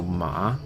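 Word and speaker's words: má: Second tone is a rising tone. It's like asking a question. So ma, which is hemp.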